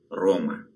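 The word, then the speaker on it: Roma: Рим полатинский произносится как Рома.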